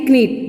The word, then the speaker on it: knit: That's written KNIT knit, but the correct pronounce will be of this word knit. क्या होगी pronunciation? knit.